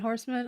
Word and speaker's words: Horseman: might not screw up your last name. Is it Horseman? Oh, is it Horseman? I just want to make sure I don't screw it up because I want to introduce you. Okay. Am I saying it right? Oh, man. Okay, great.